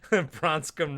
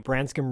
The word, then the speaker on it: Branscombe: In the back, Marlboro Man is playing pool with Bronscombe Richard. With Bronscombe... Zach, tell me his name. Branscombe Richmond.